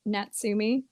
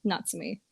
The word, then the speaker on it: Natsumi: up oh gosh so everybody tends to pronounce it natsumi and I do allow for people to call me Nat because it's easy my mom calls me Nat as well um but my name is actually pronounced Nats me so yeah that's a